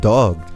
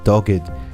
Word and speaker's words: Dogged: you all this time I have been mispronounce ei ting the title for this film I was saying dog it is dogged and this film is